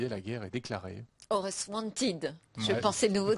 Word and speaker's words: Aorus: Comment on prononce Aorus? Aorus. Aorus. Et qu'est-ce que c'est qu'Aorus?